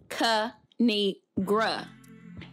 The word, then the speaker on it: Kinigrade: It's pronounced Kinigra.